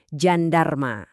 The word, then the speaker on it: jandarma: Nah, sebaliknya huruf J di bahasa Turki bunyinya unik. Mirip kayak suara je di kata bahasa Inggris pleasure atau television. Dengerin ya, Jandarma. Emang butuh sedikit latihan sih,